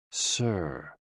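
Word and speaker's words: 呬: The 6 sounds are XU, pronounced like shh, with a deep sigh, which is associated with the liver. HE, pronounced like her, with a yawn, which is associated with the heart. SI, pronounced like sir, with a slow exhale, which is associated with the lungs.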